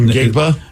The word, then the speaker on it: Njigba: Is it Ngigba? Is it Ngigba? Ngigba? Yeah, I think it's. I thought there was a J in there, but anyway, Smith. Or Njigba? Yeah, I know, and I think it's Njigba.